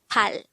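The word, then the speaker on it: 팔: Next, the Sino-Korean version of number 8 is pal. Again, it's pal.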